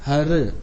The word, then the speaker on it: हरि: गुरु ग्रंथ साहिब में हर ईअं लिखियल हूंदो आहे ह ऐं र में छोटी ई की मात्रा हर, छो त रे त आहे न हर, इहो उच्चारण आहे हर।